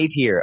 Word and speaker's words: Napier: Napier. Okay, like Jack Napier from the original 1989 Batman.